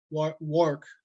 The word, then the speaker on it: Warwick: an old old winter banana tree located in warwick work as it is pronounced locally um and this is another view